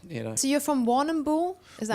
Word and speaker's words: Warrnambool: So you're from Warrnambool? Is that how you Warrnambool, pronounce it?